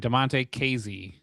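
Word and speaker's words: Damonte Kazee: So, the safety we signed, Damonte Kazy.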